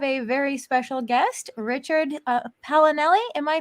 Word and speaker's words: Paolinelli: tonight we have a very special guest richard palinelli am i pronouncing that correctly yes you are oh perfect